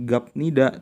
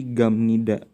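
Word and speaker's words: 갑니다: akhir itu jadi P jadi bacanya bukan gabmida tapi gamnida ini jadi m nih dibacanya jadi m ya seperti itu contoh selanjutnya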